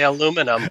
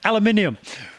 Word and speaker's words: aluminium: No, I say aluminum. Aluminum, yeah. I always say that to my American friends. You're missing some letters there. Aluminium.